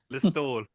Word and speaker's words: Listowel: But Listowel.